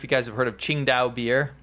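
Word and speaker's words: Tsingtao: This is kind of near if you guys have heard of Ching Dao beer. Chingdow beer if you go to a Chinese restaurant. It's you might pronounce it as Tinga.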